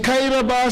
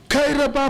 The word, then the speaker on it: Kairaba: did not pay attention everybody else was saying kairaba station kyra by police this is a ghanaian man he is unable to pronounce kairaba and you just deliberately